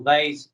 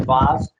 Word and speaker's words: vase: that vase advice or vase vase i suppose is how you say it in america in australia you would say bars um so but you